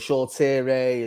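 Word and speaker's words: Shoretire: sure shaw tyre and shaw tierray and shaw with tip tyre and shaw tierra is how you pronounce it so short here oh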